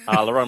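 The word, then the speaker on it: Lerone: I was going to pronounce it right this time. Lauron Murphy.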